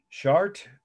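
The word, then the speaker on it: Chartres: really an important site chart cathedral facade and that's the french pronunciation for the city in france where it it it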